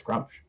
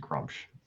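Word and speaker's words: Gruumsh: That's Grumsh. Yeah. Grunch. Groosh One Eye. I only know of him because of that fucking I've only ever heard it pronounced Grumsh. Well, you've heard it pronounced wrong then.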